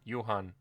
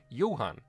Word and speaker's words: Johan: office pronounce my name after they've learned the H is silent and Yuan Yan yuhan wait okay I didn't